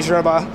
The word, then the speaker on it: Gerba: So you have to be French to really pronounce it right.